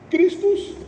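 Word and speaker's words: Χριστός: Christus, que seria a pronúncia, no grego de Cristo, Cristo.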